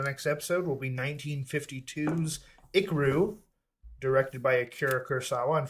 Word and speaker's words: Ikiru: So our 101st movie for the next episode will be 1952's Ikaru, directed by Akira Kurosawa. And for anyone curious, that is spelled Ikiru.